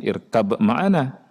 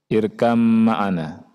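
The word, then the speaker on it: ارْكَبْ مَعَنَا: Nah, saya bilang setelah selesai, Pak, bacanya bukan irkab ma'ana, tapi irkam ma'ana. Itu ada tasydid di mana? Di mim, gitu ya.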